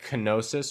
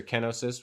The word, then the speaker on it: kenosis: for the other person we can call it canosis or kenosis however you want to pronounce it you know this other